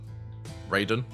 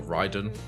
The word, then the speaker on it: Raiden: later becomes Ra uh Raiden or Ryden, depending on how you pronounce it.